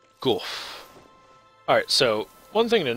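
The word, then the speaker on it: Gough: Gorf, okay. I have been pronouncing it wrong. Gorf.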